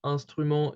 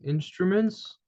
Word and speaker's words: instrument: Those two letters form kind of a group which is pronounced as one sound, okay? So here it's un, okay? So the pronunciation is very different. So the pronunciation, I'm going to kind of put it into brackets, okay? So basically it's instrument, kind of. So you don't pronounce the N here.